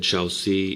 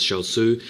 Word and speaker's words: XiaOzI: between super machine and shalu I think that's how you pronounce his name I said sheli in the previous commentary of this guy and then somebody told me it was shalu I'm going to I'm going to go with shalu he's the orange zg